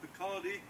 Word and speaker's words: Picardy: And then one of my favorites is called Picardy or Picardy, if you wish to pronounce it that way.